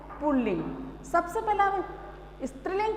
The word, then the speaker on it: पुल्लिंग: इसमें न रे है, इसका रे निकलने का यह है कि इसमें द्वितीय व्यंजन आ जाता है, जिससे कि लिंग में, पुल्लिंग में इसका साउंड में लोग रे का उच्चारण कर लेते हैं, जो कि सर्वदा गलत है। तो इसका सही उच्चारण है पुल्लिंग।